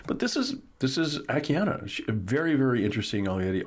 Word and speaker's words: Akiane: dot com akiana um i say akiani sometimes because there's an e on the end of it but it's pronounced akiana and as we head